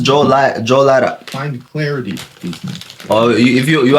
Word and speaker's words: Johlotta: Unlimited access for yeah, my name is pronounced Joe Lara.